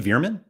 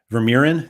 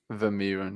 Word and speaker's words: Vermeeren: It's not Vermeer. Isn't it Vermalion or something like that? Arthur Veerman? Is that how you say his name? Veerman? Yeah. I thought it was like. I think so. No, it's like Arthur. Vermeeren. There we go.